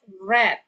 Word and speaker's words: read: Okay, remember when there is have in front of the word read, we pronounce that as read.